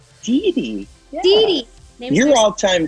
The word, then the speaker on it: Didi: Yes, I know you have a beautiful little dog, and I want to say her name is Daisy? Dee Dee.